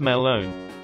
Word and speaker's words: Melon: with us named him walter melon pronounced malone we snuck the watermelon